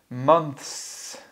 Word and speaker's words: months: So these three words are, listen carefully, months. Month. So for Chinese speakers, it's really difficult to say the ths.